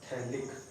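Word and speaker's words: phthalic: अब आप बोलोगे सर थैलिक एसिड को पीएच क्यों लिखा है, तो याद रखना ये पीएच जो है ना ये साइलेंट होता जाता है, थैलिक THALIC थैलिक एसिड बोलते हैं, ठीक है, इसका नाम थैलिक एसिड हो गया।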